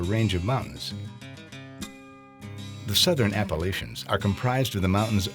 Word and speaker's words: Appalachian: The word Appalachian is derived from a different indigenous North American people, the Appalachians, who lived in the Florida Panhandle.